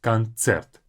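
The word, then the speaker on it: концерт: is a concert coner the main difference between English and Russian is thiser in English we say conert like a s but in Russian it's TS concert Z is a spectator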